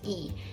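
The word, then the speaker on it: 이: Lee and Pac and Lee also we pronounce it as e Kim e Pac CH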